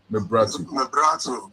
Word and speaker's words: Mebratu: Teach me how to pronounce it. Mebratu, yeah. And the last name, please. Mebratu. Yeah.